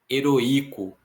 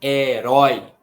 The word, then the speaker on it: heroico: Em roi, roi, qual que é a vogal que a gente pronuncia de maneira mais forte? É o O, não é o I. Senão ficaria heroico, heroico, mas é heróico.